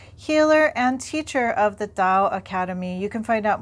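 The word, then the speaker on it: Tao: am an acupuncturist healer and teacher of the dao academy you can find out more about me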